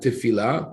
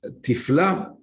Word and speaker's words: תפלה: Even though we read it, the translation, the word tifla is interesting because it is spelled exactly like tefillah, prayer, but here it's tifla from the word tafel, meaning something with no value or with no flavor, useless.